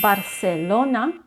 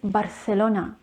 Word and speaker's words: Barcelona: it's argentina argentina so the j is actually pronounced as her and one of the most loved spanish cities it's not barcelona it's not barcelona or barcelona is barcelona barcelona remember the letter c can be pronounced